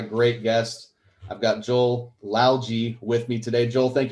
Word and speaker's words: Lalgee: I've got Joel Lalgee with me today.